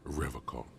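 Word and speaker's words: Revachol: forever call he pronounces riverko with a hard K unlike other people I like to pronounce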